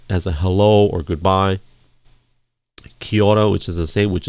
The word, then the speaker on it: kia ora: And if you're from New Zealand, they say kia ora, or it's spelled Kiaora.